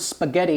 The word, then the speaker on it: spaghetti: a word yeah but why do we say the word spaghetti with a G and not with a J I don't know well the Italians add an H to make that g sound but without the H it would be J just like you have